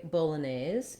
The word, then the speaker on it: Bolognese: american english to say bolognese you have this main stress on the nays syllable and then some secondary stress here on the bo syllable because it's american english